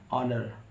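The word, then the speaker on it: honour: कब साड होता है ओ से पहले एच आता है एच को पढ़ा नहीं जाता है जैसे एच ओ एन ओ यू आर ऑनर एच ओ एन ई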